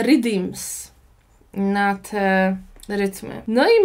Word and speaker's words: riddims: mówi właśnie poddany, to w patła mówi się redeems na te rytmy.